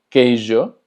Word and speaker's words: queijo: Por ejemplo, queijo, que significa queso, recordando que la J se pronuncia como Y, J.